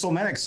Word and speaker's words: Somatics: And then Somatics. Okay, pronounce that wrong. So, and tell us about Somatics. Well, it's Somatics.